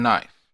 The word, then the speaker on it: knife: ship, flow, house, and knife. I draw your attention to the consonant digraph SH in ship. I also draw your attention to the consonant blend FL in flow and the silent K in knife.